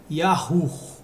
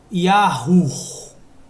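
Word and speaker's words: יהוה: Então a pronúncia seria Yahu.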